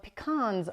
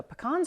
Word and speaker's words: pecan: County where lots of pecans are grown so pecans or pecans depends on where you're from of how you pronounce that word so I'm gonna say